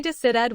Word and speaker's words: decided: Decide ends in d, the special trigger, so the ending becomes id. Say decided with three beats. In a normal sentence, keep the final syllable short. She decided quickly. The extra syllable is real, but it is not stressed.